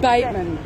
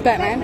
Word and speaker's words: Batman: more batman avenue probably pronounced bateman it's batman all right it's originally